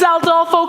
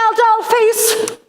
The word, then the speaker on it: Aldolpho: Oh, it's Aldolpho comes to seduce the bride.